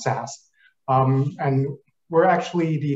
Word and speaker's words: SAS: pronounced uh you know it's spelled sas but pronounced sas um and we're actually the number one advanced